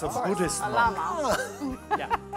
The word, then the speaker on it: lama: Llama. Yeah. And our llama, is pronounced that way in English. Even it has two L's for this camel-like animal, right? But it's llama. And a precise homophone.